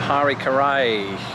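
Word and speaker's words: Harry Caray: Harry Carey Harry K how do you pronounce that in British English you know those words because we don't have the merger of Mary Mary Mary so it's very hard for me to say his name and to get it right in the way I speak here he is it's Hari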